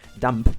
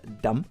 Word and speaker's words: dumb: By the way, thanks for the Spanish potato to correct me again, because I always bet dump, which is dumb because you don't pronounce the B, which is again something